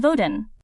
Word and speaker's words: Vodun: On Vodun, the word voodoo, spelt with 2 O's, is a Hollywood invention.